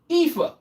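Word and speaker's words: Aoife: American pronunciation. Epha.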